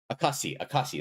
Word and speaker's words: 証: Akashi, that's how you pronounce it. I always forget that one's kunyomi.